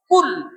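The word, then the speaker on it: قل: Bismillah atau qul huwallahu ahad, dibacanya qul, makanlah. Kalau qul pakai qaf berarti katakanlah Allah itu esa. Dibacanya pakai kaf.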